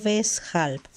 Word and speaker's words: weshalb: Weswegen o weshalb. Todas estas palabras empiezan con la letra W, la cual se pronuncia como si fuera una V.